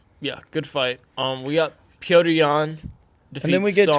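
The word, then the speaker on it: Petr Yan: and it's Piotr Jan, not Peter.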